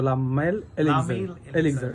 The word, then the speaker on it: Le Male Elixir: যাই হোক আপনার এক্সাক্টলি উচ্চারণটা এটাই হবে কিন্তু লামাইল এলিজার এক্সাক্টলি এক্সাক্টলি হ্যাঁ এই